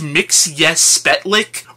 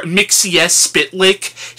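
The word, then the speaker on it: Mxyzptlk: and I understand that the point of this character is his name is supposed to be hard to pronounce, but I think it's pronounced Mix Yes Spetlik, or Mixies Spitlick.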